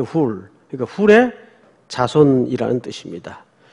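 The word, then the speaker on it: Hur: 벤 아들이라는 뜻입니다 어허 원래 풀이라고 읽어야 돼요 훌 그러니까 훌의 자손이라는 뜻입니다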